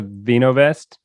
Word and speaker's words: Vinovest: So on to the wine, on to Vinovest. Mm-hmm.